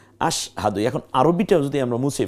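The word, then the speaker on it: أشهد: এরও এককের মধ্যে ঢুকেছে এমন আশ না আশা হাহাদু না বরং আশ দেখুন এই যে স্বর নিচে একটা হসন্ত আশ হকে আকার দ এর রসুকার আশহাদু এখন আরবিটা যদি আমরা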